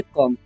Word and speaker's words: come: तो ऐसा अगर आपको मिलता है तो पहले वाले वोवेल का उच्चारण करना है, यानी कि ओ का उच्चारण होगा, और ओ का उच्चारण यहाँ पर अ होगा, ठीक है। तो इसे हम पढ़ेंगे कम।